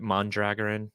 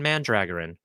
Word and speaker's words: Mandragoran: I never pronounced it Mondragoran. If it's Lan, it's man. Lan Mandragoran. But it's very silly.